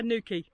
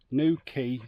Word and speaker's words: New Quay: unpronounceable Welsh campsite just that's our new key new key Wales new cardigan Bay new key two words not new key Cornwall